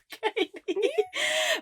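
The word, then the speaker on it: Cady: She kept repeating to everybody who kept mispronouncing her name. It's actually Katie.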